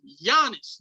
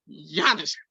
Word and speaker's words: Giannis: His name is Giannis. The G is silent. You said it 3 times. Giannis.